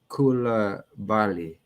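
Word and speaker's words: Coulibaly: Okay, he let me know how to pronounce his name. Koulibaly.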